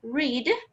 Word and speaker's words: read: O que vai mudar é a pronúncia. Então, leiam comigo. O presente fica read e o passado fica read. O som fica mais aberto.